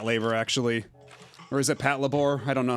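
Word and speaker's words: Patlabor: Okay, so it is Pat Labor. Okay, then I don't know why some people I know pronounce it Pat Labbor.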